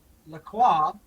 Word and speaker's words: LaCroix: I just found out that La Croix, or LaCroix, depending on how you like to pronounce it, is owned by the same people as Faygo.